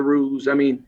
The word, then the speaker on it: roux: So roux, so you need to spell that R-O-U-X or something, right? X, there you go. But roux, you call it roux.